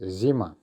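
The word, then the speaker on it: зима: So, here's our first word, which is zima. Zima, which quite simply means winter. It's the season, the name of the season, winter. It's a feminine noun and our stress is on the end, zima.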